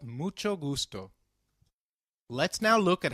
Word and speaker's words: mucho: Spanish however when combined with C it is pronounced as chip as in church so can you try mucho again it's called mucho very well as we saw nice to meet